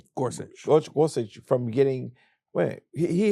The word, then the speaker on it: Gorsuch: Gorsuch Gorsuch from getting Wait he held he held